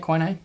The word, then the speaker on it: quinine: Is that how you say it, quinine?